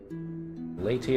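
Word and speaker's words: Leaute: to prounce l e a u l late latey it is that's easier your majesty even now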